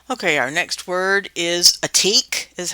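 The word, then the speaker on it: עתיק: Okay, our next word is atik, is how it's pronounced.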